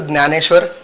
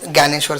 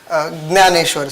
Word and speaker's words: Jnaneshwar: Sir, it is a Jnaneshwar, but you may call it Gyaneshwar, sir, because meaning of both is the same, sir. Say again. Jnaneshwar, sir. Gyaneshwar.